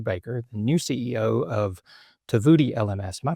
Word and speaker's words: Tovuti: Today's guest is Matthew Baker, the new CEO of Tvoodi LMS. Am I pronouncing that correctly?